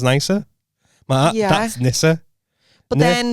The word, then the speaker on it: Nice: They were pronouncing it wrong. I was like, listen here, you fucking thick bastards. That's nice. Nice is Nice.